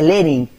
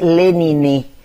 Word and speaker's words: Lenin: muchos de sus texto no se dice Lenin se dice lenine que es como lo expresaban en en francés él él estudia profundamente